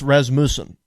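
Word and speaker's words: Rasmussen: in the uh res I think it's pronounced res musen res musen reports something like that but anyway the LA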